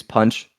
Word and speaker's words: Pancz: Something that I do is I use Punch, which is spelled PANCZ, and I'm sure some of you know about it.